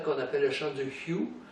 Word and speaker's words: Hu: appelle le chant du Hu. Ça s'écrit H-U, mais ça se prononce en français Y-I-O-U, donc ça se prononce ça me remplit.